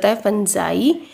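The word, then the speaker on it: fungi: 20 organise are called I pronounce करते हैं इसको ठीक है फुंजय नेक्स्ट बोला गया है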